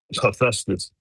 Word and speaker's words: Hephaestus: He I always pronounce that dude name wrong. Hephaestus.